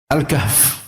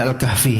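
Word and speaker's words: الكهف: malah sekarang alkahf gitu Kahf itu sebenarnya baca ke orang-orang Arab alkahf gitu kita aja Indonesia J alkahfi gitu nah terus apaagi surat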